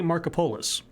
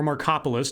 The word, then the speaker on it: Markopolos: quantitative an analyst for hedge funds named Harry Markopolos or Markopolos depending on how you pronounce it he so he was working for